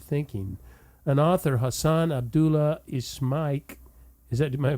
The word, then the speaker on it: Ismaik: An author, Hassan Abdullah Ismaik, am I pronouncing his name correctly?